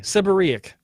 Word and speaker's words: seborrhoeic: reoccur in some countries maybe tomato tomahto anyway seborrhoeic dermatitis listen maybe maybe dr.